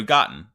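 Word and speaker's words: Gottn: they say it and it's kind of like cotton but with a G okay yeah so gotten all right okay blowing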